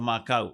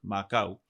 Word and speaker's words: makau: two common pronunciations of Macau. In Sam, we have Macau with a long vowel sound as in fish hook. Macau and Macau, a short vowel sound as in kakau or tomato.